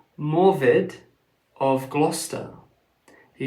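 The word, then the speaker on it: Morudd: Jeff's uh jeffy's book they uh swap that name for morid or Mori I think is how you pronounce it but it's m r u d d so I think that's pronounced Mori so the point is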